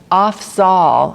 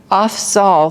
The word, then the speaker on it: Afzal: So it says that Afzal, I think is how you say his name, Afzal faithfully followed his yoga exercise for 20 years.